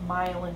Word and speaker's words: myelin: the brain are called myelin connections kind of like rhymes with violin um and so really you're just making that myelin pathway a little bit